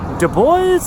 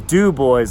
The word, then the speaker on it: Dubois: might think, is that Dubo? Is that Dubois? What is it? No, the actual proper pronunciation is do boys, like Mountain Dew, and the boys, like not girls, but boys.